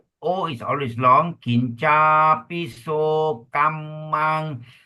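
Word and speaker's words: kammaṃ: Kinca, piso, kamang. Double consonant, we pause and make it clear.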